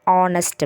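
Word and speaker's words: honest: ஸோ இது vowel சவுண்டில் pronounce ஆகிறதுனால ஆன் ஆர், ஆன் ஆனஸ்ட் மேன் அப்படி தான் நம்ம சொல்லணும்.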